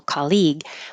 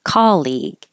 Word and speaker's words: colleague: I hear people put stress on the second syllable colleague, but it's not. It's on the first syllable. It should sound like ca. Or if you want to think of it as call, like I'll call you, colleague.